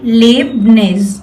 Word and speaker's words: Leibniz: Okay, you have to pronounce it like this. आपको इस word को pronounce करना है children, Leibniz. Okay, I have partitioned it. You can learn it easily. Okay, and you can pronounce it in this way.